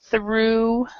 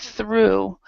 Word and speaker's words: through: end so we have through uh we actually do not pronounce the GH so you don't need to even try so we have through we have though uh